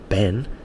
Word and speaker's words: Ben: her, I say, look, Ben has 1 syllable. Ben, it's not Ben, yeah?